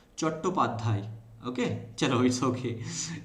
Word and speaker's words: चट्टोपाध्याय: सो चट्टोपाध्याय, you actually pronounce like that, and Bengali में इसको pronounce करते हैं चट्टोपाध्याय।